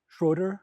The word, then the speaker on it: Schroeder: But surname Schroeder. Schroeder.